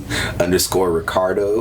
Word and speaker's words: Ricardeaux: It's _ Ricardo, which is spelled RICARDEAUX.